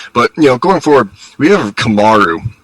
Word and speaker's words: Kamaru: Kamaru is the true pronunciation, but he's in the Anderson Silva trajectory.